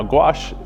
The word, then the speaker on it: gouache: mosh now gouache obviously rhymes with my name but it's also the